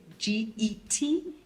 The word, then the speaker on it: Gadmo: more is spelled Gadmo, but pronounced Getmoer. Say that again. So it's spelled Gadmo, Gadmo. Yes. But it's pronounced space Moer.